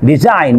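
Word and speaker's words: design: তারপর খেয়াল করেন সাইলেন্ট লেটার জি এর পরে এন থাকলে, ভেরি ইজি, জি এর পরে এন থাকলে আপনার জি লেটারটি সাইলেন্ট থাকবে। এখানে খেয়াল করেন সাইন, ডিজাইন, নোম, জি এর পরে এন আছে।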